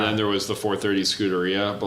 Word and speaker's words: Scuderia: Oh, I know the Scuderia. Yeah, That's how you yeah.